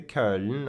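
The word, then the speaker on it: Köln: bought some tickets to the curtain or cologne if you like the English pronunciation and went to the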